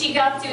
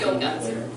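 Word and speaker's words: 四月: So, and four is one of the weird ones, so it's Shigatsu, not Yogatsu. Yeah, so this is a calendar for the month of April.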